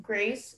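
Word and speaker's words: graisse: Okay, your word is grace. It's a homonym, so I'm gonna give you all the information. The only pronunciation is grace.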